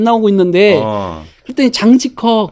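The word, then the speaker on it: 张继科: 장지커. 장지커입니다. 아, 예, 발음 잘하셔야 돼요.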